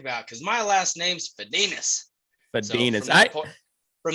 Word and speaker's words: Fedinec: said fed a nick i don't know it's fadinas fadinus is how my my great aunt who's about